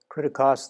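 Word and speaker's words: κριτικός: we have an adjective critericos critecos that's a transliteration of the word from greek this is the way it would sound in greek but this is spelled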